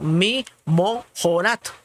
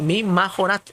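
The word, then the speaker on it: מִמָּחֳרַת: Si entendemos lo que esta palabra, que les digo que algunos la pronuncian mi mojorat. Y aquí les estoy diciendo mi majorat, o mi majorat.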